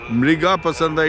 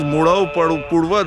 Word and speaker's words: Murau Purwa: in the Buddhist text they have mispronounced it as MGA uh pasanda MGA pasanda it is not M MGA is Mur pasanda is Pura Mur Pura the place's name is murva that is the place